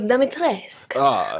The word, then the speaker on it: Dimitrescu: You kind of went for the Duke's pronunciation in the game. He goes, Dimitrescu. Dimitrescu.